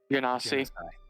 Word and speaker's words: Genasi: I don't know how to say their name, but Genasi? Ganassi.